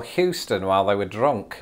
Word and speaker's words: Houston: It's Houston. Is that because at one time people in the South sort of pronounced that O sound as an O sound and it just evolved?